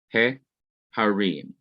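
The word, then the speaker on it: הֶהָרִים: of a word, then the definite article changes from the pathak being under the he to it becoming segol, or a short e sound, he harim.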